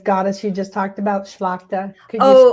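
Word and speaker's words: Tlachtga: The the goddess you just talked about, Schlakta. Can you spell that for everybody? And I'll stick it here. Sure. It's uh, it does not relate at all to the way it's pronounced.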